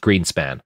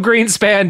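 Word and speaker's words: Grynszpan: the green spots uh g-r-y-n-s-z-p-a-n-s I think it's pronounced Greenspan yeah or something like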